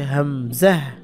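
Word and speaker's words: همزة: এটার নাম হচ্ছে হামজাহ, হামজাহ। উচ্চারণ কিন্তু ওই আলিফের যা ছিল তাই, এই যে আলিফে যেমন আ এ ও, তার নাম হচ্ছে হামজা, বাকি উচ্চারণ হামজা জবর আ আ এ ও এরকম হবে।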